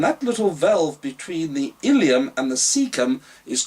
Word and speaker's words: ileum: Then the food, or the broken down food, now moves into the last part of the small colon called the ileum, and this is where you need to be careful on your spelling, because ileum also pertains to the hip bone.